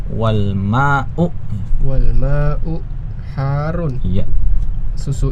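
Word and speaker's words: الماء: Wal mau ya pakai hamzah bukan pakai ain. Bukan wal mau tapi wal mau wal mau harun.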